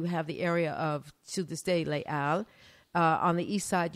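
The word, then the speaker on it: Les Halles: came to be called Le Al which is basically halls but it's of course in French you don't pronounce the h so makes it hard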